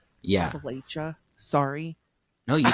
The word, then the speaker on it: Appalachia: Appalachia. Sorry. No, you said it right. Oh, I You said it did. It right. was Appalachia.